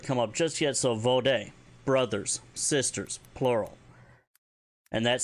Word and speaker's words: vode: A keeper of the way never forgets their debts, their promises, their vode, or their honor. And I know we haven't had that word come up just yet, so vode, brothers, sisters, plural.